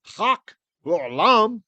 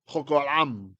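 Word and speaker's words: חק עולם: So chok, not chak, chok olam.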